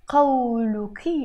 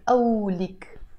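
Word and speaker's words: قولك: saying something cold and when I say Cao Lu key in Standard Arabic in Lebanese Arabic I pronounce it Olek literally I'm saying what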